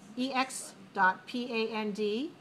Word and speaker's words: expand: ex.pand. Notice the pronunciation is not but expand. Expand. 2-2. 2 syllables stressed on the second.